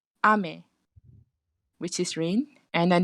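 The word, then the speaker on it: 雨: High low is a rain. Low high is candy. So what Shazrin meant is this one, the pronunciation, high, low. So this one actually refers to rain, and then the other one, low, high. This one is actually candy. So the first one I'd say ame, which is rain, and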